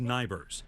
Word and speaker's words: NIBRS: Ford oversees the National Incident-Based Reporting System, pronounced NIBRS, a clearinghouse of crime data operated out of the hills of West Virginia.